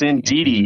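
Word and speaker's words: Indeedee: armor Rouge and the uh how do you pronounce that Indy indei yes indei you have to watch out for that indei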